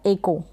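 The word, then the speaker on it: echo: एको है, यहाँ पर आप देख सकते हैं हिंदी में लिखा है एको, क्या बन रहा है, एको, एकऊ करके जैसे ये लिखा है एकऊ, इस तरीके से आप पढ़ दें, नहीं, एको। तो प्रोनाउंसिएशन आप ठीक करें इसको प्रोनाउंस।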